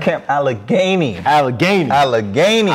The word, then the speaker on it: Allegheny: i said it right this time right camp allegheny allegheny all right all right that's what it